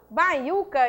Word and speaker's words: baiuca: Quando eu falo baiuca, eu tenho sílaba tônica, ó, U. Então, baiuca, sílaba prosódica, é uma paroxítona constituída por U.